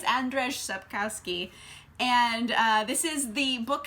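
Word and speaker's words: Andrzej Sapkowski: so that's my fault but I think it's Andres up Kowski and this is the book series for The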